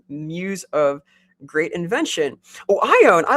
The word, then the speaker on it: Ioun: I always pronounce it Ioun, but maybe Ioun? Yeah, that's how I pronounce it. But maybe it's Ion.